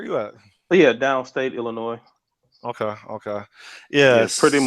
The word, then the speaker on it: Illinois: Is there any other major city in is it Illinois or Illinois? So I always say Illinois, but No, you do not pronounce the S.